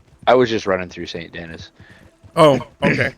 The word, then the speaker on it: Denis: His name is spelt the same way, but it's pronounced Denis Oh wow. En français. because it's a Français, French yeah, thing.